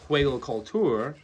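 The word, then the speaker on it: Hügelkultur: And recently I was uh watching a video on Hugo culture apparently pronounced hue culture beds and a lot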